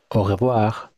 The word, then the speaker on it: au revoir: won't hear it pronounced au revoir. The E would be removed, so if you heard it in France, it would sound like au revoir, but faster.